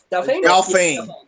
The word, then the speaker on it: Delphine: Delphine. Delphine. You don't pronounce it E. Yeah. Okay. Yeah, Delphine. We're gonna call her. It's basically dolphin, but Delphine.